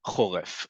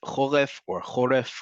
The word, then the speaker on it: choref: So first off, choref. Choref or choref, depending on how you say the letter resh, is the word for winter in Hebrew.